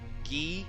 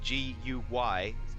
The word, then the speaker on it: Guy: work his name is spelled like ghee the french ghee so it would be g-u-y guy in uh in the old american english divord is d-e-b-o-r-d guy